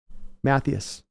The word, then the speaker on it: Matthus: says it's very rare my last name is pronounced right matthus matthus right come on